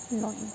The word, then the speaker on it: gnawing: Here you can see they have sharp incisors to nibble, and molars for gnawing. Okay, knowing what I'm telling, GNAWING. So here G, it is silent, so that's why it is called gnawing.